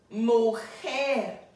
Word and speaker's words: mujer: Now remember we said if a word ends in a consonant other than an N, R, and S, the last syllable will receive the stress.